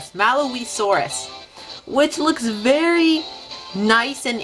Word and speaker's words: Malawisaurus: I believe is pronounced Malawisaurus, which looks very nice and interesting.